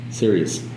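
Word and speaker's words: Sirius: serious this is serious you know the satellite radio they named that after this serious that's how it's pronounced right yes it dwarfs the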